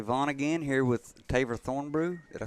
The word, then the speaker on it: Thornbrugh: again here with taver thornbrew did i say that right thorne yeah your last name spelt kind of like vaughn there's a bunch of silent letters in there and it throws everybody yeah it does so